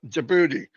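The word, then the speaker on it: Djibouti: jaboti jouti jouti yeah it's spelled with a d but I think it's silent jouti so if I do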